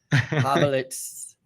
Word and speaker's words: Povlitz: I'm so super excited to have my friend Adam Povlitz. Did I say it right? Povlitz.